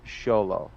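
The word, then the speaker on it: Xolo: if I remember correctly he said it's pronounce sholo yeah which makes sense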